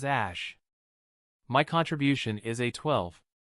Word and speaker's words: Æ: it is he explained the AE is pronounced as Ash my contribution is a